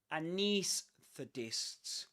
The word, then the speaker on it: anaesthetists: So anesthetists. It's like we begin with a schwa sound, right? Knees. niece, with a long E sound, like something like this.